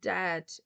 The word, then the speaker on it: dead: And dead, it's said, like bed, not bead. For goodness sake, don't call it deed.